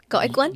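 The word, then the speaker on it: gỏi cuốn: And goi kun. And what? The wrapped goi kun. Goi kun. Maybe I'm saying it wrong. Oh, come on. That's the very Goi kun? Go-ik-one?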